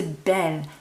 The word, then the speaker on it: bel: We're going to see that masculine go from bu to bell, but it's not spelled like the feminine.